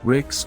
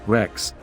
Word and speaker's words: Rex: The king of the Goths was known as a Rex, pronounced Rix or Rex, and translated as judge,